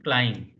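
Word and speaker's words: klein: the pronunciation that means whenever EI combination is coming you pronounce i whenever I is comination is coming you pronounce e so here k l e i n so here I you have to pronounce so you are pronouncing clim here d i e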